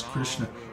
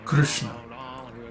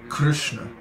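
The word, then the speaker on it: कृष्ण: hear North Indians pronounce Krishna Krishna huh or Krishna like that but actually the way to should be pronounced is Krishna Krishna there is no I no Krishna Krishna so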